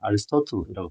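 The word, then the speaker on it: Aristotle: physics에서 우리 많이 들어본 사람이지 아리스토텔레스라고 하는데 영어에서는 아리스토틀이라고 발음되는 자, 이 사람은 묻습니다.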